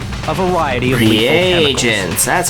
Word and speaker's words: reagents: Reagents. That's how you pronounce that one.